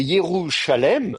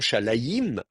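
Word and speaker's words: ירושלים: Donc, c'est Yerushalem. Alors, à vrai dire, la prononciation Shalaïm est une prononciation secondaire, artificielle, qui est apparue, je ne sais pas à quelle époque d'ailleurs, mais probablement pas à l'époque de la Bible elle-même. Je ne sais pas à partir de quelle époque on a eu l'idée de prononcer Shalaïm au lieu de Shalem.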